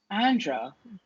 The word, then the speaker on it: Andrea: me all my life andra which is how my name is actually pronounced andre just breathe breathe